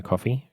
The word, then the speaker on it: Ko-fi: Or I think you're supposed to pronounce it coffee, but it's confusing having the two that are very similar.